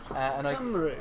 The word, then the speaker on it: Cymru: Cymru, it's Cymru. Was it? Cymru. I've been saying it wrong all along.